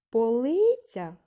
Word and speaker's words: полиця: наголошений склад другий наступне слово полиця скільки складів в цьому слові три склади запитаємо це полиця який склад вимовлявся голосніше так другий склад вимовлявся голосніше наголошений склад в цьому слові другий і останнє слово стіл